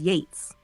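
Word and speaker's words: Yeats: again got it Jeff I'll pronounce it as Yates like gates from now on thanks for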